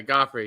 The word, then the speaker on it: Guifre: as it looks okay goffy yeah I want it's pronounced like the uh the who is it the king in um Game of Thrones or the ballet in New York got it Joffrey got